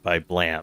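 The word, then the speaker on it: Blame!: I'm in in the blame or well it's spelled blame but it's pronounced blam just because strange anime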